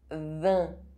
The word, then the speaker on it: vin: IN and IM are pronounced un. Vin.